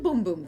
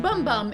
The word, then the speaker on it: Bum Bum: so de Janeiro's Brazilian boom boom cream which is not pronounced bum bum it's pronounced Boom Boom at least that's what